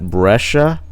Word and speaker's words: Brescia: I appreciate you guys reaching out again, and I believe it's pronounced Retro Format Brescia. I was pronouncing it wrong the entire time.